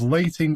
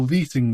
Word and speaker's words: lighting: This ritual can sometimes be pronounced as lighting or leeting the witches, but a lit candle is integral to the process, so the alternatives may just be a bit of lanky twang dialect at play, with lighting seeming to be correct.